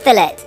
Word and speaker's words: fillet: Millie a bone-in ribeye cooked rare, and for me a medium cooked fillet. Yes, we pronounce it that way in the UK before I get any fillet corrections.